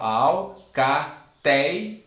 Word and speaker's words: alcateia: Alcateia. Então nós temos que a penúltima sílaba é mais forte. E se a penúltima sílaba aqui ela é mais forte, ela é paroxítona.